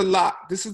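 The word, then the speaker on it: ལགས: Because this is the la like Geshe la. La. La. Oh, wow. Okay. It's spelled lock, but they say la.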